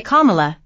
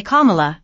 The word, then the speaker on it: Kamala: they were explaining to me you can say Kamala you can say comma I said don't worry about it it doesn't